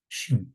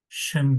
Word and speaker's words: Şin: diye okuyorlar söylüyorlar yanlış bu harfin ismi Şir Şin harfi e şu Damme ile şu şe Feta kesra koyduk şi şın diye okusaydık şı diye okun yanlış okud okuması yanlış telaffuz yanlış olurdu bunu Şin diye öğretelim sat harfi sağ kalın